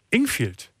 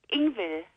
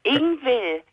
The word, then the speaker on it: Ingvild: Ingvild. Ach so, Ingvild, genau. Ingvild. Das D wird nicht ausgesprochen, das V wird wie Ingvild ausgesprochen.